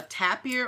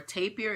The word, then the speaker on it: tapir: Pan applied for a trademark for, it was a picture of a hooved animal that's called a tapir or a tapir.